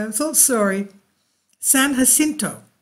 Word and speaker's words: San Jacinto: one of my viewers said yes I was pronouncing it wrong I'm so sorry San Jacinto right there okay that's part of the san